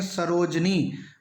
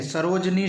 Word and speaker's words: सरोजिनी: की मात्रा आती है सरोजनी शब्द गलत है जबकि ज्यादातर विद्यार्थी इसे ही सही मानते हैं तो दोस्तों सरोजन ही नहीं होता शुद्ध होता है सरोजिनी यहां की मात्रा छोटी की मात्रा का प्रयोग करें सरोजिनी सरोजिनी सरोजिनी यही शब्द निषिद्ध है